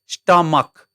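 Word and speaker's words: stomach: यहाँ एस टओ एम एस एच स्टमक क sound आयो है त जहाँ सीएच को उच्चारण च हुन्छ त्यहाँ एस चोडिन्छ भने जहाँ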